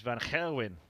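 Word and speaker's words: van Gerwen: it's kind of a sound that we don't have in our pronunciations in the uk the actual appreciation of michael van gerwin is van gerwin for example throwing darts like mvg here 100gb 56.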